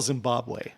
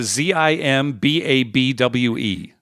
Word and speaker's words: Zimbabwe: how do you spell Zimbabwe it's a Z imba BW e yeah but it's pronounced Zimbabwe yeah as in Bob way here now I'm gonna